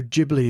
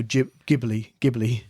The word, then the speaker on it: Ghibli: So, the big news here is everyone's decided Studio Ghibli is the Ghibli.